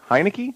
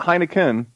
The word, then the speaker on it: Heinicke: his last name correctly hanneke Heinicke not Heineken that's a good beer this is